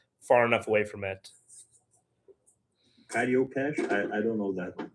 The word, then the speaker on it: Carioca: there's a specific dialect in Rio called Cariocash, which is funny because it's spelled Carioca, but they pronounce it Cariocash, which is like its